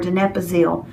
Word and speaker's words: donepezil: I say it wrong every time. I want to put the P in the wrong place. Donepezil or donepezil. No, it's donepezil.